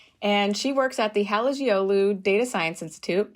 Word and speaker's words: Halıcıoğlu: The C is a G and the G is silent. So Halıcıoğlu. Halıcıoğlu.